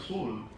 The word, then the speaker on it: Seoul: I was given hardly any time to see the city, beautiful city of Seoul. They say Seoul is the correct pronunciation, Seoul is the wrong pronunciation, Seoul.